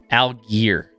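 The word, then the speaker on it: Allgeier: Then you have Moore, Penny, Rashad Penny, Madison, Pickens, and Algier.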